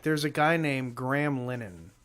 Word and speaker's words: Linehan: There's a guy named Graham Lennon, and I say Lennon. It's spelled Linehan, and he's the guy he's made some of the best TV shows in the history of television.